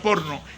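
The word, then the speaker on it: porneia: prostituta tiene inmoralidad sexual se escribe por neo se pronuncia porno y allí viene la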